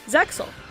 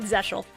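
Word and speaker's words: ZEXAL: the really stupid way because sometimes an x has a sh sound sexual i'm not i'm not saying zechal the crosso crossel is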